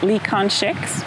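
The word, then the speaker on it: Lee Kang-sheng: My colleague who reviewed Stranger Eyes for Film Fest Report was really impressed with the, I'm so sorry about the pronunciation, Lee Kan-shek's?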